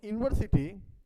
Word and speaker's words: university: So in university there is you and we pronounce it you.